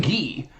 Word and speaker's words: Guy: And then but it's it's Guy but that's pronounced Gee.